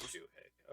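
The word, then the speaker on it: Shohei: It is Shuhei.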